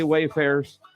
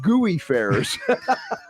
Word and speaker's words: Wayfarers: I had to say Wayfarers, you didn't spell it out. The second time, you gave me a pronunciation guide. You're welcome. I would have said Gooey Fairs, right?